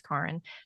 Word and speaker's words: Karin: My first name is German. It's not Karen, it's Karin.